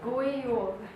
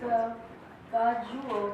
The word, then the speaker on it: God jul: We're doing Christmas in Norway, and how you say Merry Christmas in Norway is God Jul. But it's weird because it's God Jul, but it says, you pronounce it as God Jul.